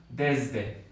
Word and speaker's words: desde: Pero piensen en la palabra desde. Desde. Si se fijan esta S de aquí, al menos en mi acento, es una Z. Desde. Desde. No sé ustedes si la pronuncian desde, con una S muy fuerte, pero es una Z, al menos en el acento mío de la Ciudad de México.